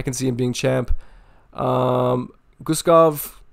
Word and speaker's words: Guskov: Guskov or Bogdan Guskov, I think is how you pronounce this guy's name.